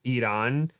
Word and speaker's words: Iran: I remember I had a teacher who in college from Iran, not Iran, it's Iran, and she made that very clear, and it was just like, "Yes, ma'am, it's Iran, ma'am.